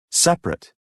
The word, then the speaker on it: separate: pronunciation pronounced fouls part a listen and practice the vowel immediately after a stressed syllable is sometimes not pronounced average different separate comfortable interesting vegetable okay very good now if